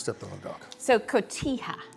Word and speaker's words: Cotija: on the dock so Cotija Cotija but most people mispronounce it and say cojita I know all the